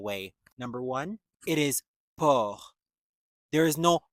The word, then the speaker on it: porc: Number one, it is poor. There is no P. There's a C at the end of the word, but it is not pronounced.